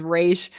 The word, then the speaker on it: Ra's: Space Job was saying, "There's no way that Ra's al Ghul possibly reads as Raish. There's no way to make that work. It's how they say it on the TV show."